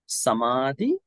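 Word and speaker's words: samādhi: actually these two words can you can you pronounce slowly samadhi samadhi so there are no two ways to you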